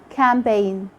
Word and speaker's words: campaign: Letter G is silent when it comes before an N at the end of a word, like in sign, design, campaign, foreign.